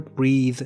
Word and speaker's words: breathe: Here, breathe is the verb. We have breath and breathe. This is the verb which is pronounced as breathe.